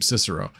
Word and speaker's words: Cicero: Gordon Murray Steven Cicero yes that is how you pronounce her his last name Cicero uh balloon dragon mining